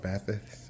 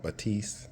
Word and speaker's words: Bathys: focal batif batis um some people call it bathys but it's called Batiste uh French made home audio and um that's